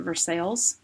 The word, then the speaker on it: Versailles: to dough Daddy's and it's in Versailles Kentucky but I'm pretty sure they pronounce it Versailles um in Kentucky they do and there's this beautiful